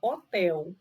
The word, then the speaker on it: hotel: Mas se falasse assim, um H, por exemplo, se você escreve uma palavra que ela começa com H e você tira o H, ela continua tendo o mesmo som, né? Por exemplo, a palavra hotel. Hotel se escreve com H. Mas se você tirar o H e escrever hotel sem o H, tem o mesmo som e o mesmo entendimento.